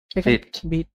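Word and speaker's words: Vite: আচ্ছা এইটার উচ্চারণটা কিন্তু এই এটা ভাইট হবে না। উচ্চারণটা এখানে কি লেখা দেখেন তো বিট উচ্চারণটা ভাইট না।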